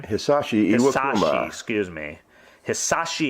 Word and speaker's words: Hisashi: Baseball's first-round draft pick in last year's fantasy, Hideshi Iwakuma, is that how you say his name? Hisashi Hisashi, Iwakuma.